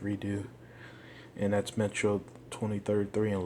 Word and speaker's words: Redux: Metro Redux, Redo, I believe it's pronounced Redo, and that's Metro 2033 and Last Light.